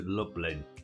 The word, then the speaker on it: Lublin: Roofing felt from Warclaw to Lublin. That's like Dublin, but don't spelled with an L.